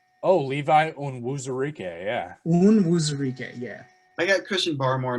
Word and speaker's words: Onwuzurike: Onwuzurike? Oh, Levi Onwuzurike, yeah. Onwuzurike, yeah.